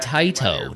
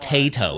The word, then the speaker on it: Taito: like this isn't cool he said taito not tato it's well there you